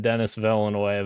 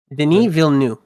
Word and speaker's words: Denis Villeneuve: he was freaking out about because I said Dennis Villeneuve, but I know it's fucking Denis, whatever, fuck.